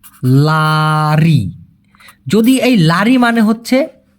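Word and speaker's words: lari: যদি এই যে লারি লারি উচ্চারণটা কি? লারি।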